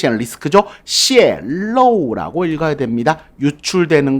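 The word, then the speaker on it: 泄露: 泄露 라고 읽어야 됩니다.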